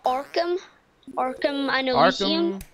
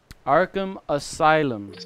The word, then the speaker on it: Arkham Asylum: You seen them like Arkham and Elysium? Arkham and Elysium from Batman. Yeah, I played a game or Arkham Asylum. Game? Arkham Asylum.